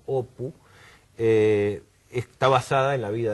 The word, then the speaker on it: Apu: Y también la historia es totalmente autobiográfica, o sea, la historia de Apu, que en bengalí lo pronuncia más como Opu, está basada en la vida de este escritor, que tiene mucho que ver con Satyajit Ray.